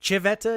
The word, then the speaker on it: Civetta: Was everybody over there calling you Nick Civetta? Isn't that how they say it in Italian? Yeah. Yeah. Well, I catch myself saying that sometimes because that's just the way it's pronounced over there.